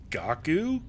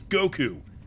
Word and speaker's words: Goku: to my name and she didn't know how to pronounce Goku she was like g gaku go what and I was like you idiots Goku don't you know DBZ idiot I